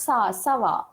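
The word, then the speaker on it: ça va: So this is pronounced as Sava.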